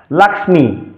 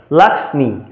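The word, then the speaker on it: লক্ষ্মী: করে তাহলে লক্ষী লক্ষণ এখন এর সংস্কৃত উচ্চারণ হবে লাক্স্মি অর্থাৎ স্বতন্ত্র উচ্চারণ লাখি তো আমরা যদি লক্ষণটা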